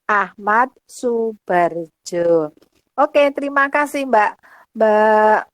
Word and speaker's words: Ahmad Soebardjo: oleh Ahmad saebani Jo Ahmad Soebardjo tulisannya ya dibacanya Ahmad Soebardjo Oke terima kasih Mbak